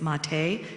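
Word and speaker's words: Maté: psychiatrists one of them his last name is mati spelled like ma te like mate and I believe the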